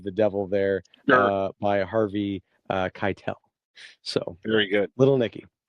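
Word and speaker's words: Keitel: sweet boy Little Nikki who portrayed it hary Keel was his name he's a youel oh kitel okay yeah yeah I thought I heard it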